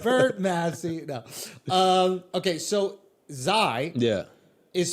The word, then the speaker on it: Xi: Xi.